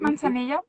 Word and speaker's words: manzanilla: Like, manzanilla. Is that how you say it? Hmm. What Yep, is it? manzanilla.